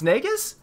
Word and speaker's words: Naigus: It's Naigus?